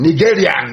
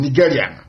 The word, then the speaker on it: Nigerian: Nigerian, that's the proper pronunciation, Nigerian. If you want to know how foolish a black man is, a Nigerian is, nigger.